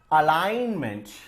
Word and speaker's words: alignment: Alignment. What's the next word? Alignment. Alignment. What is silent? I'm not reading G here.